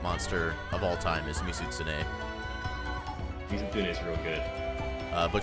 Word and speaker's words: Mizutsune: of all time is mizutsune is real good uh but she can't quite say mizutsune so it comes out as mitsune sometimes and i'm like that's not right but close close enough hey look there there's